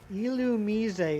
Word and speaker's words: Illumise: Illumise is how you say it.